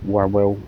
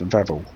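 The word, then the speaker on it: Wawel: one we were reliably informed it's not pronounced W well Castle it's pronounced Vel Castle but time we got this far we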